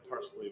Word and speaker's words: parsley: It's like parsley without the S, right?